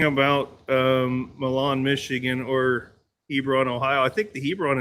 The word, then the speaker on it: Hebron: Hebron Hebron Hebron, Ohio.